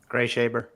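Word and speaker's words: Greashaber: Gree Shaber? Gray Shaber.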